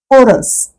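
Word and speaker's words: chorus: एस हे spelling आहे एच आहे परत मध्ये एच म्हणजे ह उच्चार आहे पण ह चा उच्चार को रस उच्चार आहे इथे त्याच्यात ह येतच नाहीय म्हणजेच एच हे अक्षर झालं सायलेंट आनसर आता आन्सर या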